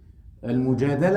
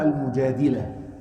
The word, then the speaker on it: المجادلة: المجادلة أو المجادلة has two ways to recite or to pronounce.